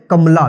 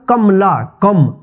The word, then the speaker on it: कमला: आपको लिखना है कमला, देखिए उच्चारण कमला, कमला, क में जो है अ की साउंड आ रहा है, लेकिन यहाँ पे जो